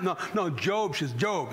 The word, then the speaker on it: Job: Did you lose your job? No, Job.